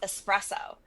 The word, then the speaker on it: espresso: So I was like, ooh, instead of Hot Mess Express, Hot Mess Espresso. I love it. And then my Instagram handle was completely mispronounced for the next 10 years.